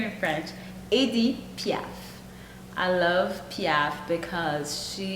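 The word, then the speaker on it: Édith Piaf: Edith Piaf.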